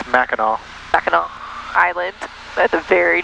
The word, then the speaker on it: Mackinac: trying to go to Mackinac and did I say it right nope say the word for me then I think it's Mackinaw Mackinaw Island that's a